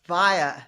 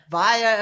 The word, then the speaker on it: Vaia: It's via like via a meaningful life. Via.